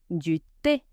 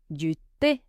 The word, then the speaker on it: thé: Du thé. Du thé. Tea. Letter H is silent.